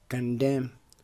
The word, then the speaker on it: condemn: کنډیم غندل، په دې کې هم دوستانو له ان وروسته ام ده، ان څو خاموشه ده، نه تلفظ کیږي.